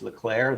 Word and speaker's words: Leclerc: to know is that it's leclaire the sea is silent oh god oh my